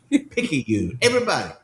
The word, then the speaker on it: Picayune: Everybody in the South knows how to pronounce and enunciate Picayune of Mississippi. Picayune.